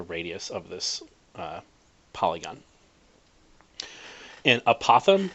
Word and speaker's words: apothem: of this polygon in apothem or a Pithom depending on how you choose to pronounce it is the distance from